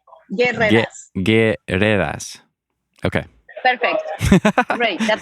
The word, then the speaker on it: Guerreras: But you don't pronounce the U, so you say guerreras.